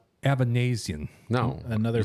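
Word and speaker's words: Avanesyan: Thought that said aneurysm. It's Avanesian. Avanesian is how you say that.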